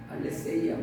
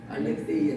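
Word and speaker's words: ἀλήθεια: 진리, 알레테이아, 알레세이아 발음이 여러 가지로 있는데 알레테이아 진리를 맞죠.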